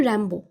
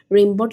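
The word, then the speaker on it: Rimbaud: আমি বললাম, আমেরিকানরা বলে র্যাম্বো, তবে কি এইসব ঝামেলা এড়াবার জন্য বানান অনুযায়ী রেমবট লেখা উচিত? উনি বললেন, না না, এতদিন ধরে র্যাম্বো চলছে, সেটাই চলুক। এই সূত্রে আমার প্রতি সৈয়দ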